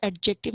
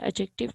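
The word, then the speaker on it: adjective: फिर एडजेक्टिव आता है, इसको एडजेक्टिव नहीं बोलेंगे, इसको एडजेक्टिव बोलेंगे, यहाँ पे डी साइलेंट है।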